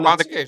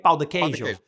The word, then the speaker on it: pão de queijo: But then if I say it wrong, sometimes I say pão, and then it sounds like I'm saying another word, which is apparently like for like ass or a butt.